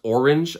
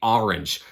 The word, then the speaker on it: Orange: town name several times it's the same as the color which most Americans pronounce orange I think but I'm from the Boston area I have an accent and I say orange um everyone makes fun